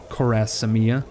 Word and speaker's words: Khwarezmia: want to put him in Khwarezmia, or Khwarezmia, I should say. Missing a syllable.